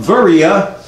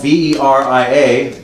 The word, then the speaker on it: Veria: The little town of Berea, now called Veria, if you want to look it up and see where it's at, it's said to have about 30,000 inhabitants, but it's spelled V-E-R-I-A, Veria, and has, you know, depending on what